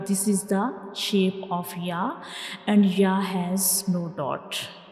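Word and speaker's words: ي: Now we move to the next letter, that is Ya. Ya. Ya. Read after me. Ya. Ya. Say it again. Ya. Ya. Now try to recognize the shape of Ya. This is the shape of Ya, and Ya has no dot.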